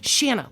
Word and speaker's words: Shanna: say her name rain it's Shana like sh banana and so she comes